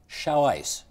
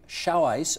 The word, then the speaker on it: Xiaoice: excerpt from Wikipedia here, which describes something called Xiaoice. That's spelled X-I-A-O-I-C-E.